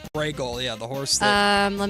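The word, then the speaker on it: Brego: It's uh it's I there's always the pronunciation of it so people spell it differently, but it's like Bragel or something like that is how he says it. Bragel.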